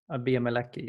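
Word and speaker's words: Bea Malecki: Bia Maliki, yes.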